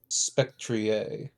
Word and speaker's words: Spectrier: Spectrier. Oh, uh, same It's difference.